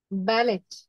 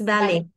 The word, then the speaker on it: ballet: is coming okay and in French word final T is silent all the French words the final T is silent but a final silent E makes sound so T in uh French words like how will you pronounce this word sorry how will you pronounce this word ballot no it's ballet ballet okay buffet and not bouffet okay so T will be silent but interesting thing is